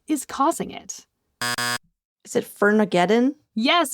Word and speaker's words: Firmageddon: Is it Fermageddon? Yes, it's Firmageddon. Good job, Claudia. Thank you. What's causing Firmageddon? And that's F-I-R spelled like fir tree.